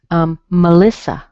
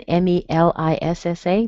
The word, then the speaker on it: Melissa: Melissa. You see the E in M-E-L-I-S-S-A, but it's a schwa. Melissa.